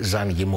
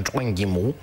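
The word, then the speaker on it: 张艺谋: Με είχαν διορθώσει και στο φεστιβάλ του Μακάου, μου είπαν ότι δεν είναι Ζαν Γιμού όπως τον λέμε περισσότερο, αλλά Τσουέν Γιμού, το οποίο φυσικά δεν μπορώ να το προφέρω σωστά.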